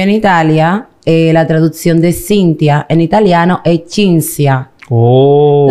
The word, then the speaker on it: Cinzia: Entonces, como aquí lo leen como se pronuncia, me llaman Cintia. Oh. Entonces, ¿Chi con CH? No, sin la H. Sin la H. Exacto. Lo que pasa es que se pronuncia así, pero se escribe así, Cintia.